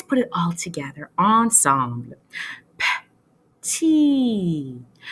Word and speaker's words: petit: La lettre T. But guess what? C'est silencieux. Shh. On ne le prononce pas. Okay? Let's put it all together, ensemble. Petit. Petit.